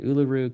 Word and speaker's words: Uluru: And that rock is called olaru. Think of it like it rhymes with kangaroo. It's an Australian word. Uluru kangaroo.